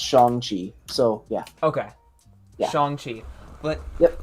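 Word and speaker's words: Shang-Chi: me look at i believe it is pronounced shong chi the that movie looks so so yeah so the guy who's playing him did actually make a tweet on his twitter that's pronounced shonji so yeah okay but yep i am looks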